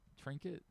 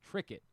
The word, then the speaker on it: Trickett: Trinket? Uh sorry, Trickett. Like cricket. Uh t r i c k e t t.